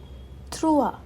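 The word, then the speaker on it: trois: ई के ऊपर एक्सेंट है तो zero to द the three थ्रुआ थ्रुआ ठीक है ये त्र पूरा ऐसा सुनाई नहीं देगा थुआ क्योंकि आर पूरा प्रॉपर्ली प्रोनाउंस नहीं होता है इन फ्रेंच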